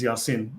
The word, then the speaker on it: Yasin: Notice that the name of this portion of Revelation of the Quran is Yasin pronounced in Arabic as Yasin.